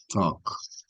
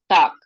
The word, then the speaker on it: talk: Talk. Talk. Okay. So acá es una O larga. Mm. No hay A, no hay L. Y la K es muy pronunciada en inglés, right? So Okay.